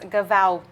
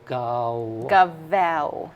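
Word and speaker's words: Gaweł: So, and it's pronounced as a W. Okay. So Gawet.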